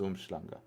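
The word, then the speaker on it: Umhlanga: different but it's spelled umlang I mean it's pronounced umanga ignored YouTube chap I didn't I'm scrolling down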